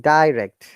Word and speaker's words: direct: Look at this pronunciation, direct, direct. Die. Both are correct.